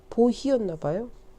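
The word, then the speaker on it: Bohea: 많이 수입을 했다고 나왔는데 그 보희가 보이차 풀어가 아니고 우이산의 영어식 발음이 그 당시 영어식 발음이 보희였나봐요.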